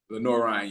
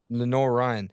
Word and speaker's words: Lenoir-Rhyne: Lenor Ren. Lenor Ryan. Yeah. Lenor Ryan.